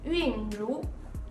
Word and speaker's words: Winru: It is pronounced as Yunru.